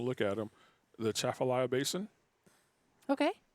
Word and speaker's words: Atchafalaya: If there's no A, I think you don't pronounce the A, Yeah, you right? do. You do? Yeah. The Chaffalaya Basin. Yeah, but it's a soft A. It's not a hard A.